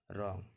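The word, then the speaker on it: wrong: यहाँ भी आर है, तो डब्लू का उच्चारण नहीं करेंगे, इसको पढ़ेंगे आर ओ एन जी, रॉन्ग।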